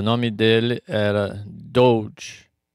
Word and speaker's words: Doeg: E o nome dele era Doeg, o Edemonita. Doeg. A pronúncia pode ser dog, como de cachorro.